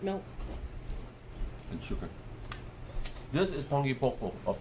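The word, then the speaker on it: panipopo: This is pangi popo. It's spelled pani po. Pani po. P-O-P-O. Pangi popo. But someone has pronounced it pangi popo.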